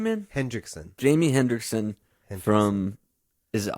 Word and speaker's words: Hendrickson: Hendrickson.